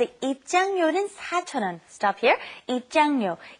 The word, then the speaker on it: 입장료: It's kind of hard to pronounce because your tongue's kind of moving around in your mouth. It's 입장료 and then 대여료. 입장료, 대여료.